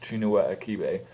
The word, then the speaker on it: Chinua Achebe: fairly certain the author's name is pronounced chinua aibe but as for the